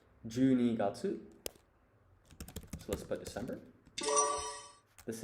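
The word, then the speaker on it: 十二月: And you would pronounce this Junigatsu.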